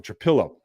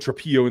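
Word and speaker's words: Trapilo: And I know I've said Trapillo in the past. There's only one L in his name, and I have corrected that in my head. So now I'll say it right.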